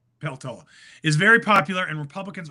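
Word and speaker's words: Peltola: Mary uh Pelatollah Apologies if I pronounced your name wrong.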